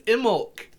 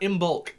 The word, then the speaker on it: Imbolc: anyway however merry emma today is immolk and um or as i called it when i was first starting out in bulk because i did not know that the b was